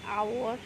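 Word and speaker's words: hour: আচ্ছা, একইভাবে আমি লিখছি আওয়ার, ইয়ার। এখানে কি এ বসবে? না, এখানে অ্যান বসবে, কারণ এখানে এইচটা সাইলেন্ট, এইচটা সাইলেন্ট।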